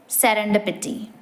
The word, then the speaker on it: serendipity: or valuable by Chance the pron iation is serender pity an example sentence they